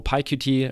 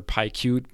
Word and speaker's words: PyQt: So PyQt or PyQt, however you want to pronounce it, can be a great option to build GUI applications with Python.